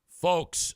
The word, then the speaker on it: folks: Folks rhymes with folks. You do not pronounce the L in folks.